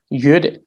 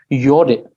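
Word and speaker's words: ཡོད་རེད: Sometimes we tend to pronounce. Sometimes it's tend to be pronounced as yore, which is also very common in some of the regional dialects, yore, but it should be pronounced yure with the emphasis on ta.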